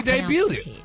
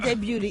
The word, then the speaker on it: debuted: Yeah, she debuted it. Not debuted. E D. We going to say she debuted it. The T is silent.